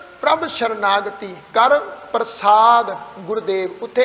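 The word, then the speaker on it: ਪ੍ਰਸਾਦਿ: है ध्यान विच रखियो एक इदा उच्चारण कई सज्जन प्रशाद कर जांदे जी प्रशाद नहीं करना उच्चारण ससे पैर बिंदी ला के प्रशाद नहीं कहना य अशुद्ध होवेगा एक गल उच्चारण है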